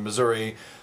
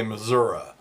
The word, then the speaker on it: Missouri: Claire McCaskill has got their new advertising campaign, radio and TV, and they use the outstate pronunciation of Missouri. They say Missouri repeatedly through the commercials.